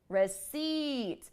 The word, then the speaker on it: receipt: you have the long vowel sound it's longer you hold it longer rest it receip do you hear it's held a little bit longer this small detail will